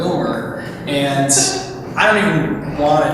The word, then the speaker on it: Willmar: And then, of course, I come out here and I was calling it Willmar the whole time. It's apparently Willmar.